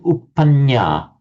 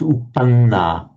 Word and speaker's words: uppanna: So I noticed that you were saying uppanya. It's uppanna. It's not a nya, it's a na.